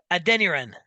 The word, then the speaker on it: Adeniran: So Lowen, a beautiful pass to um, Can you uh, pronounce his name? Samuel We'll call him Zanya. Adeniran.